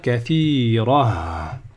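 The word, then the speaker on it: كثيرة: Ici, là, si je m'arrête, le tanwin fatha, je ne peux pas lui faire un alif comme pour les autres, parce que là, il y a un ta. C'est pas possible. Donc, je vais dire kathira.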